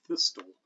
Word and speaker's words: thistle: We're warned to observe these silent letters and never say the C in scissors, and never say the T, I presume, in thistle, which is a good idea, or the D in Wednesday, which is a good idea.